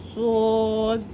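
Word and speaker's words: ص: আওয়াজ হবে আর একটু চেপে বের করতে হবেশিন সদ এটা হচ্ছে সদ আর হচ্ছে এরম করে টিন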